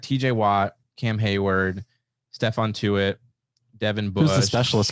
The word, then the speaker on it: Tuitt: It rhymes with do it. Oh, Stephon Tuitt.